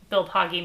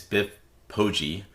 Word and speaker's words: Biff Poggi: Actually, I found out today that his name is Biff Poggi. Oh. Had no clue. I know we've been saying it wrong the whole time.